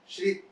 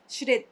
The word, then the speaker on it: श्रित: श्रित। श्रित। हाँ, क्योंकि कोई श्रुति बुलाता है, कोई बुलाता है, तो ये कंफ्यूजन है, क्या है? श्रित। श्रित तो चांदे। श्रित जी, मैं अभी भाई